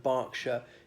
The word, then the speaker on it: Berkshire: more examples that with the English counties hartfordshire and Berkshire in both cases the e is pronounced as an A just to be difficult